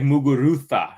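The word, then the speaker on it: Muguruza: the correct uh Spanish yeah it's like like mugurutha it's like yeah same with it's um yes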